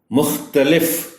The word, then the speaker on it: مختلف: پر چڑھ جائے گا۔ مختلف، اس لفظ میں تے پر زبر کا خاص خیال رکھا جانا چاہیے، چونکہ عام طور پر